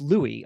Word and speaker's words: Louis: So Pessimists Archive started, it's pronounced Louis.